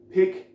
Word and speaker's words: pick: Pick, P-I-C-K, je le prononce de manière très courte. Pick, pick, pick. Ça ressemble presque au E en fait, mais ce n'en est pas un. Dans tous les cas, il est court, c'est ça qui est important.